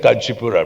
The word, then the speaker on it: Kanchipuram: And I want to travel anywhere, and tomorrow I will go to see with weavers in, you said Kanchipuram, right? I was mispronouncing it.